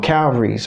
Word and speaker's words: Calvary's: cow cow buries Calvary's Calvary's okay that's the way that way that word is pronounced in the song Calvary's alright so that's just